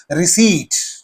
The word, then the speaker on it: receipt: Okay, p is also silent.